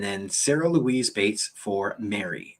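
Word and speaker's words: Mairi: sarah louise bates for mary and i think that's how that's pronounced m-a-i-r-i and that's from england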